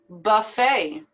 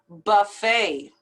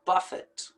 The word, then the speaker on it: buffet: pronounce the t affidavit buffet it's just as if it was ending with an a sound or a y buffet and not buffett buffet now there's two